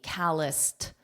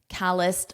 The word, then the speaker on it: calloused: Callous, callous, and then with the ED as T, calloused, calloused bump on my pinky finger.